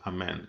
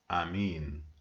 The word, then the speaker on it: amen: the information that the word amen is not pronounced amen it promotes amin ah me yeah and that means in aramaic